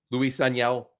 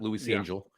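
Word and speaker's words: Luis Ángel: For the young Acuna, Luis Aniel, I believe is how you pronounce his name. Not Luis Angel.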